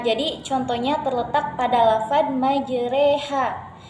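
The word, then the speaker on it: مجراها: Jadi cara bacanya majreha. Pada dasarnya patah itu dibaca a, namun terkhusus pada kata majreha ini, jadi patah itu dibaca e, jadi dimiringkan ke e. Bismillahi majreha. Nah, kalau untuk penulisannya ini majroha, tetapi untuk pelafalannya ini dibaca majreha karena ini merupakan salah satu yang istimewa di dalam Al-Quran.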